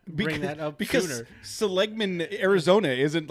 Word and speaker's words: Seligman: I think it's pronounced Seligman, but it's just west on the 40.